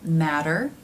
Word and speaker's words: matter: This sound happens when the T comes between two vowel sounds. Let's take, for example, the word matter and matter. One is spelled with two D's and one with two T's, but they're pronounced the same.